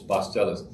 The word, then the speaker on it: pasteles: you spell that p-a-s-t-e-l-e-s three star syllables bus tellers and there's no real